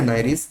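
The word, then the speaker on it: Nereis: NCERT में नेरिस या नाइरिस जैसा भी प्रोनाउंस करें वो एक एक्वेटिक एनिलिड है और इसके बारे में एनसीईआरटी में डिस्क्रिप्शन दे रखा है.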